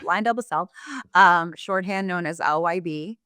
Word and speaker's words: LyondellBasell: Uh, we get Lionel, Lion Del Basil, Basil, but Lion Delbasel.